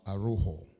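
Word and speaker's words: Araújo: I understand when it is J-O, you don't say Joe, you say Ho.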